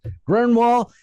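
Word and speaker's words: Grönwall: How do you pronounce that? Grinwall. It's got a umlaut in it, anyways.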